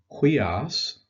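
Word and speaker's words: υἱός: Next is the word for son, huios, is how you pronounce it, ha huios.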